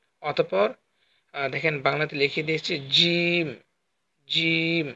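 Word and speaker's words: ج: অতঃপর দেখেন বাংলাতে লিখে দিয়েছি জিম, জিম। এই হরফটা একটু মোটা হবে, জিম, জিম, জিম।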